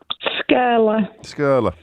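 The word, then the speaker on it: Skirlaugh: How do I pronounce that, Rachel? Skurla? Skurla.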